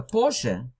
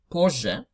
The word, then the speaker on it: позже: Позже, just notice you pronounce позже, not позже.